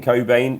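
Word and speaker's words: Cockbain: this year we spoke about the transition Ian Cobain that's how you say it Rob not anything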